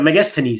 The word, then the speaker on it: Megasthenes: to India even he has recognized you have megasthenes so even he has recorded video burning but